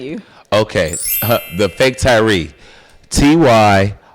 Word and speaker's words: Tyree: Tyree is how you spell Tyree. Tyree. The H is silent.